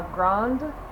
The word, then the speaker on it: Grande: So you can tone it down and just say La Grande. Make sure you pronounce the D at the end, because